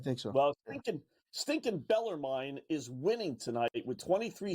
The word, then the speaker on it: Bellarmine: Beller Beller mine has is it mine or mean I think it's a long eye Beller mine I think Beller mine okay I think so well stin stinking bellermine is winning tonight with